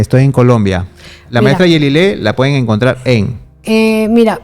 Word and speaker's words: Yelile: Instagram, mi nombre, Yelile. Sí, Yelile se escribe Y-E-L-I-L-E, así como suena.